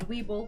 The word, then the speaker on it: Weeble: most um pronounceable names try laurac Weeble Noble what it l l o r l a k then Weeble like Weebles wobble but they don't fall down and and mobile uh